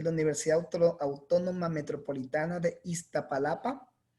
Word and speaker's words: Iztapalapa: de Sociología de la Universidad Autónoma Metropolitana de Iztapalapa. Iztapalapa, ¿sí lo pronuncié bien?